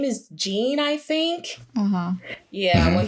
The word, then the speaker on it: Jean: which his name is Jean I think uhhuh yeah when he first gets there he is it John or Jean it's John okay it's spelled like Jean but it's pronounced John mhm it's French yeah